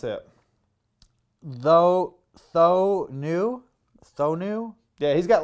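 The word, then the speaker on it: Thoene: everything like that and uh how do you pronounce it though th new th new yeah he's got lots the tools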